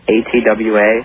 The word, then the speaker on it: ATWA: The song ATWA, how do you pronounce it?